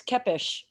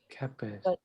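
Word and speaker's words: Képes: it's Kepes. Kepes. Yeah. In Hungarian, an ES is always like an SH. Kepes.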